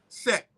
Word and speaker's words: Set: It was just S-T, Set, right?